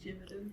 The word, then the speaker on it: Gevedon: I would say Gevedon. It's like with an R.